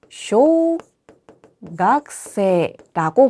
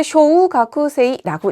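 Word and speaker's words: 小学生: 쓰여 있기는 쇼가구세이라고 쓰여 있지만 실질적으로 바른 표기는 쇼 각세라고 보시면 되겠습니다. 절대 쇼우가쿠세이라고 읽지 않아요.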